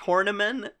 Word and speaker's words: Horniman: about the name, Roy Hornyman. Woo! Yes! My dude. I'm sure it's pronounced Horniman, but...